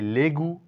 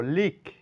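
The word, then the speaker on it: league: এর পরে ইউ আছে তাই লেগু না বলে বলবো লিখ এখানে ই এর কোন সাউন্ড নাই তার সঙ্গে জি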